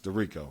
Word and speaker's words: Derico: It's Derico.